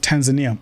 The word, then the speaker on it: Tanzania: It's pronounced Tanzania.